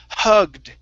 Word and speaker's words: hugged: last word is hugged this one we want to pronounce a d okay now I would study the Ed endings we have three different sounds we just went over two of them a t sound and a D sound there's a third one which is ID okay this one here we do not pronounce the E okay this is hugged